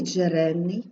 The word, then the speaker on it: джерельний: Джерельний досвід пам'ятаєте що у слові Джерельний G будемо вимовляти як один звук тому що він стоїть у корені слова і відповідно це слово нам